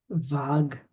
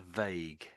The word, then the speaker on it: vague: Vag. Ah. So, that's that's that's normally said as a vague.